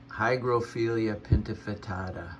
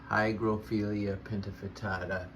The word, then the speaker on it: Hygrophila pinnatifida: The least I could do was know its name, or at least how to pronounce it. Hygrophila Pinnatifida. Hygrophila Pinnatifida.